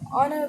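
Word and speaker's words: honour: H silent है। Honest पढ़ते हैं, हॉनेस्ट नहीं पढ़ते, ऑनर पढ़ते हैं।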